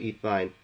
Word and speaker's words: ethyne: It depends how you would like to pronounce it, but I call it ethyne.